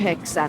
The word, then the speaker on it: yhdeksän: Numbers "kahdeksan" (8) and "yhdeksän" (9) are pronounced without letter d: "kaheksan" (8), "yheksän" (9).